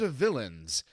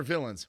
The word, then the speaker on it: Villeins: series called Lords and villains it's pronounced the same but it's spelled differently because they're not bad